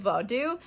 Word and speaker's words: vodou: in a bit of vodou and that's like i believe the correct pronunciation of voodoo and uh she kind